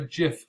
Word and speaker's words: GIF: imaging file types uh says you should pronounce it like the peanut butter jif but because it stands